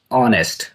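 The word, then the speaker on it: honest: Question number 14 इज the silent letter is ऑनेस्ट।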